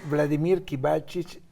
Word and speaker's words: Vladimir Kibalchich: Lo pronunciaste bien, Vladimir Kibalchich, y si le queremos poner el segundo apellido como se usa en México, Rusakov, que es el apellido de la madre.